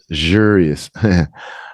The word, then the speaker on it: luxurious: one again the K the x is lug a g luxurious luxurious a g and a j luxurious that's a I